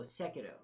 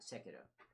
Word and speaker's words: Sekiro: Somebody boots up the game, plays the whole Sekiro. I was saying it wrong. Sekiro.